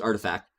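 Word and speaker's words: RTFKT: rug pull via its subsidiary Artifact, pronounced Artifact, which it acquired in late 2021.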